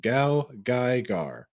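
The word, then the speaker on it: GaoGaiGar: Oh, okay, that's how it's pronounced. Gao Gaigar.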